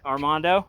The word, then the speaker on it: Armando: All right, we're here with Armando. Am I pronouncing that correctly?